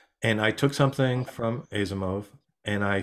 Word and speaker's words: Asimov: Before Robin begins, can you give me the correct pronunciation of the author of Foundation, his last name? No. Asimov.